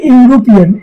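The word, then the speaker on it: European: এ ইউরোপিয়ান, ঠিক একইভাবে ই দিয়ে আছে ভাওয়াল অক্ষর, কিন্তু উচ্চারণটা ইউ, যার কারণে এখানে এ ইউরোপিয়ান হয়েছে।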